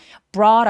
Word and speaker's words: brought: brought 할 때는 B는 입술을 꾹 다물고 바람이 터져 나오듯이 brought a 라고 소리 내는데 이거 왜 T가 굴러가는 걸까요? 모음 사이에 소리가 끼어 있어서 그래요. GH는 묵음이라서 소리로 봤을 때 T가 모음 사이에 끼어 있어요.